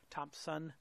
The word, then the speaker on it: Thompson: Iain Thompson is with us as well. Thompson, no P in there.